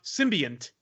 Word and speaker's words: symbiont: I think it's supposed to be symbiont, which is symbiont, by the way, pronounced symbiont with an N.